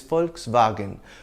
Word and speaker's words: Volkswagen: way Amazon foreign but the original German pronunciation is Volkswagen which means people's car you know folks people